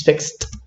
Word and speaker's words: fixed: And in past tense, we have the t pronunciation, so we have fixed and fixed. Don't pronounce fixed, right? It's fixed.